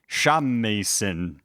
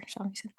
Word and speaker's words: shamisen: And hey, speaking of magic things, Kubo plays a magical shamisen. Definitely know how to pronounce that. That's what it's called? Japanese is very like as it sounds.